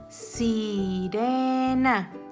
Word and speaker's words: sirena: Sirena, sirena. Y está entre dos vocales.